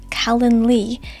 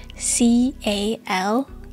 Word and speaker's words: Calendly: use calendly if you're not familiar with calendar Callan Lee it's spelled c-a-l-e-n-d-l-y calendly I think I spelled that right in